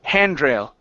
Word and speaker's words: handrail: Okay, the stress is at the beginning instead of at the end. It's handrail, handrail. Handrail.